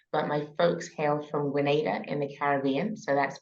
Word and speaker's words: Grenada: uh your journey so from Grenada right Grenada exactly not Granada Grenada 10 points to you